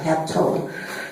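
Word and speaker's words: ἅπτω: When you look at this word touch in the Greek, it's pronounced haptu, A-P-T-O, hapto, which means to cling, to lay hold of.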